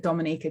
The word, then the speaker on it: Dominica: when they're there okay we call it dominica pronounced dominica and situated between walu and